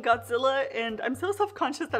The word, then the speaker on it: Gojira: out godzilla singular point fyi i know it's gojira gorilla and kojira or whale but i've grown up saying godzilla and i'm so self-conscious that i'm just gonna